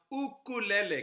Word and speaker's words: ukulele: The word is actually pronounced ukulele.